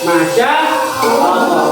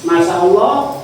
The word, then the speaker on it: Masya Allah: Kamu lihat ini kalau kamu suruh nulis lagi masyaallah harus tahu, harus bisa manya itu ada apa? Apa lafal panjang alifnya ya. Masyaallah ya. Bacanya agak panjang ya. Ada panjangnya ya kan.